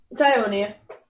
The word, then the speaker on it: Iounia: It's Iounia.